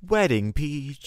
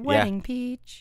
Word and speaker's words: Wedding Peach: that's so cute joey you have to say it correctly it's wedding peach oh that's right that's correct it's sweating peach you are right wedding peach yeah you got to